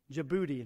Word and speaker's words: Djibouti: that last week djibouti now it doesn't it doesn't sound like it's spelled i mean i had him spell it to me and i said that didn't really help because i think it starts with a d and i wouldn't think djibouti would be spelled with a d but he was he